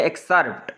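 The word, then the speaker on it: excerpt: यहाँ पे देख लें एक्सर्प्ट, इसमें सी साइलेंट है, ठीक है।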